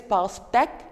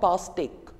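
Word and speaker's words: pastèque: becomes a and if it's like e the pronunciation becomes a so here since it's like this it is past act and not pastic just like this I have discussed several aspects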